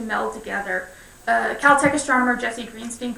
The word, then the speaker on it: Greenstein: He pronounced his name Greenstein.